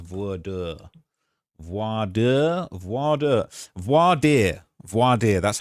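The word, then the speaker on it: voir dire: uh pronounced vo voad voadier voadier that's how it's pronounced voad um so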